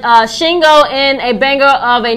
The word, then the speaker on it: Shingo: She can do 2 syllables. Shingo.